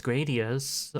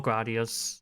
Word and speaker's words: Gradius: Because in the original version, which was Gradius or Gradius, Mhm. depending how you want to pronounce it, it's called the Fick Fiper.